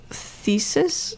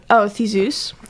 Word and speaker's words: Theseus: The name, Ariados's name, is like based on the Greek myth of Thesis. Oh my god. Thesis. That's what it looks like. Theseus. Theseus. Yes.